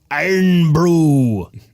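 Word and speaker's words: Irn-Bru: iron Brew in the it's iron Brew i r n b r u iron Brew that's exactly how they say it by the order Scotland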